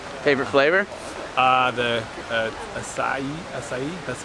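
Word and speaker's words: açaí: bar too so favorite flavor uh the acai acai that's how you pronounce it sounds good yeah that's the yeah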